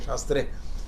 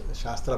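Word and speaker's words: शास्त्र: yoga shastra today because when we people cannot pronounce sastra properly they start telling sastra became so if anybody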